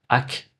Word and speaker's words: akh: Pour les Égyptiens, le but n'était pas juste de traverser la mort, mais de devenir ce qu'on appelle Ar. Donc je pense que certains prononcent également Ak, donc AKH.